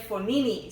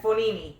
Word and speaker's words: Fognini: Yes, and Fognini. And not Fognini. And he said the G is silent.